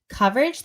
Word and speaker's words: coverage: lot of the words where we use the vowel, as in cup, are spelled with an O, which is a nightmare. For example, government, they'll say government, or coverage, they say coverage Oh yeah.